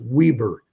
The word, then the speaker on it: Weber: We could I could have I thought this is Weber and someone I got a comment in the uh the video said someone from Utah know it's that pronounced Weber.